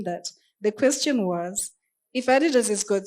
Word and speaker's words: Adidas: So I think from what Ida was saying, I'll give you the case of Adidas. That's how it's pronounced.